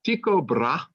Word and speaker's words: Tycho Brahe: You need to know the name Tycho Brahe, if you want to be an American and say it like that.